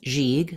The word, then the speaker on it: gigue: comom presents how to pronounce jig the first letter g in jig says the J sound jig letter I says e and the second letter G says G IG jig jig have a